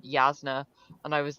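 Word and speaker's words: Jasnah: I first read way of Kings I was pronouncing it jasna in my head and then done said yazna and I was like I need to recalibrate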